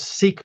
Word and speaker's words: Sikh: It's loaded with Sikhs there, kind of the epicenter of the world's Sikh population. And when I say Sikh, it's S-I-K-H. That's how they spell it. It's pronounced Sikh.